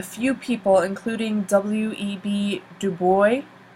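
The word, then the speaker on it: Du Bois: people including w/e be do boy that's how he pronounces it and marcus garvey these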